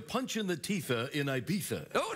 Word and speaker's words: Ibiza: It happened today in Ibiza, or as the Eurotrash pronounce it, Ibiza.